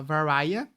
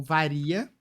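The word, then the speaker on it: Varya: O primeiro capítulo, que é um prólogo, é pela visão da Varia, ou Varia, V-A-R-Y-A. Varia a pronúncia.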